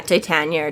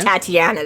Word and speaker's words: Titania: Yeah, Titania. Titania, but it's just not Tatiana that she keeps trying to switch.